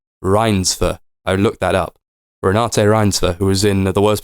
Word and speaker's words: Renate Reinsve: It's with starring, fuck me, how do you pronounce her name? Renate Reinsve. I looked that up. Renate Reinsve, who was in The Worst Person in the World.